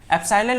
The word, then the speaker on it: एप्सिलॉन: जिसका मतलब होता है एप्सिलॉन नॉट। इसकी स्पेलिंग ये होती है, देखो EPSILON, एप्सिलॉन बोलते हैं उसको, एप्सिलॉन के नीचे जीरो लगा देते हैं, इसका मतलब है एप्सिलॉन नॉट।